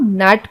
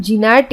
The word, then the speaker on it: gnat: कुछ शब्द दिए जैसे GNAT, इसे हम नैट पढ़ते हैं, इसे हम जिनैट या ग्नैट नहीं पढ़ते हैं। तो ये एक ऐसा वर्ड है जिसमें पहला लेटर यानी कि जो जी है वो साइलेंट है यानी वो मूक है। हम इसमें जी का प्रोनाउंसिएशन नहीं करेंगे।